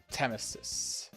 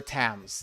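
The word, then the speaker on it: Thames: We don't really call it the Temesis. It is is a bit simpler than that. Let's just put it that way. It is a bit of of a simpler name. The River Tams. That is correct.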